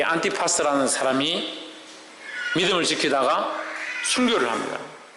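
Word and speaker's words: Ἀντιπᾶς: 안디바는 이 원어 발음으로 안티파스입니다. 안티파스. 이 안티파스라는 사람이 믿음을 지키다가 순교를 합니다.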